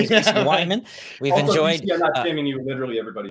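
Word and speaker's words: Wehman: my name is mr wyman we've enjoyed you literally everybody else i get it is someone with w-e-h-m-a-n uh my name uh weeman is the most common mispronunciation of my last name dustin ever cava does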